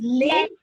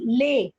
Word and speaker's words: Leh: road in the world that is leh wait see the pronunciation that is leh nobra road is the